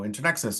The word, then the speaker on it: Internexus: and internships whether that's handshake or you know internexus or um did I say it right intern